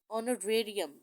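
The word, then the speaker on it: honorarium: इसी तरह है Pfizer is एन ऑनरेरी secretary of the club, she gets an ऑनरेरियम। अब यहाँ पर जो है वो एच साइलेंट है, यहाँ पर भी एच साइलेंट है, इसलिए हमने दोनों जगहों पे एन जो है वो लगाया।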